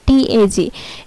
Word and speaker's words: Tag: যেমন এখানে জি সবার ফার্স্টে বসছে তাই এটা গ এর মতো উচ্চারণ হয়েছে, আর এখানে TAG, এখানে জি সবার শেষে বসছে তাই এটা ক এর মতো উচ্চারণ হয়েছে।